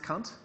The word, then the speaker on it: Kant: His last name is to be pronounced Kant.